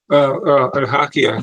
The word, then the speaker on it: Ohakea: And he says he lives near, I don't know how to pronounce, so I pronounce it Ohakea Air Base. Is that how you say it? Ohakea, Ohakea. Ohakea, they call it.